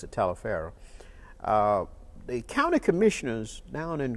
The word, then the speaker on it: Taliaferro: Some people said Toliver County but we pronounced it Taliaferro.